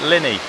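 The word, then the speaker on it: Llanidloes: in the town of lanidor that's very badly pronounced the locals call it Linny uh as you can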